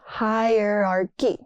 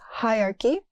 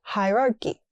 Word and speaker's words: hierarchy: Not hierarchy. It's hierarchy. But some people also say hierarchy.